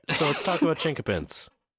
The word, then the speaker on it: chinquapin: what we got to we got to understand the pronunciation chinka pin okay a pin it's not qu like a q so that's the old spelling but you also see it spelled with a K it's been it's been